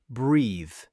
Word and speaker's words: breathe: We pronounce it breathe. It has a long e sound, like tree.